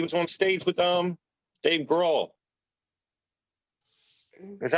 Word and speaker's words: Grohl: He was on stage with Dave Grohl. Is that how you pronounce his last name? Grohl, right? Grohl.